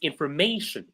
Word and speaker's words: information: So kindly double click on the screen, and the right pronunciation is information. So the word or the part of the word, the group of sounds that is prominent is may. May is the one that is more prominent.